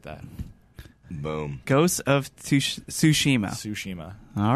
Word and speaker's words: Tsushima: Tsushima. All right, but yeah. Spelled with a T.